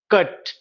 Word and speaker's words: cut: पूछे होंगे कि अरे PUT पुट कहते हैं और CUT कट के रूप में हम उच्चारित करते हैं. स्पेलिंग सेम है परंतु देखिए एक में उ साउंड आ रहा है और दूसरे में अ साउंड आ रहा है. PUT यू का यहाँ पे उच्चारण उ के बराबर है और कट में यू का साउंड अ है.